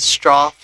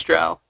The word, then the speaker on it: Strough: pronounce it as Strough. It's like, no, Yeah. it's Strough.